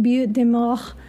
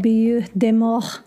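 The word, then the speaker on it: Butte des Morts: and a little like beautiful both in Winnebago County Wisconsin now if you've noticed the way I've been pronouncing it's because it was given by French Colonial settlers most likely in the early 1700s it does mean mound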